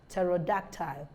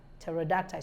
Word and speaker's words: pterodactyl: pH and Silent s so p is silent in these words psychiatrics pneumoniae pneumatic psychotherapy psychotic psychology psychologists pseudo pseudonymy pseudonym pseudonym and pterodactyl pterodactyl so you see that